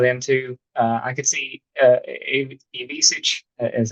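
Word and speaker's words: Ivišić: I could see Ivisic, is how you say his last name, maybe later into February and something.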